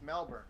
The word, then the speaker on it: Melbourne: That's how they pronounce it. It's Melbourne.